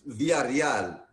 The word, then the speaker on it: Villareal: Well, no, it's Villareal. No, Villa, like a Villa, like Pancho Villa. Villa, and then Real. Villareal.